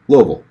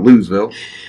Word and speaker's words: Louisville: going to be aware louisville that's how you say it is not looseville it's it's like two syllables yeah somewhere from there